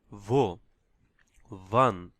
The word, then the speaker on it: wie: ওইভাবে উচ্চারণ করতে হবে ভো। ভান, হাউ, হাউ মানে হচ্ছে ভি। এখানে আই ই হচ্ছে ইংলিশ দীর্ঘ ই। হ্যাঁ, দীর্ঘ ইর মতো উচ্চারণ হবে আই ই, ভি, ভি।